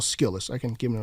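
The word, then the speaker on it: Skillest: It's almost like skillet it, but put the S in there.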